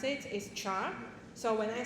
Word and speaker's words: char: So the name so the way to pronounce it is char.